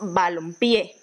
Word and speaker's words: balompié: escribe m entonces tenemos balompié balompié entonces la tilde la representamos sus donde en la última y en la última en la última sílaba este sería el caso